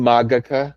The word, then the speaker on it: Magica: And I'll say I pronounce it Magica now. It's supposed to be Magica because it's classical Latin rather than Church Latin.